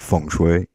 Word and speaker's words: feng shui: Is this the feng shui of panels? I'm pronouncing it right. But what? Oh yeah, absolutely perfect feng shui.